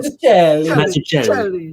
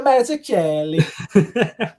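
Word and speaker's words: Mazzucchelli: I think it's a hard C like that, like the Italian. Mazzuccheli. It's not David Mazzuccheli.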